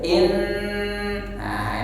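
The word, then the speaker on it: إِنَّ: Nah, sering diingatkan ketika bertemu nun bertasydid jangan terburu-buru. Ketika bertemu mim bertasydid jangan terburu-buru. Tahan dulu 2 harakat. Bahkan sebagian mengatakan sampai dengan 3 harakat.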